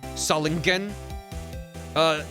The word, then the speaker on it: Solingen: Hard G. Solingen.